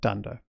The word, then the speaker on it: dunder: that have special behavior they start with two underscores they end with two underscores and we pronounce that dunder so dunder in it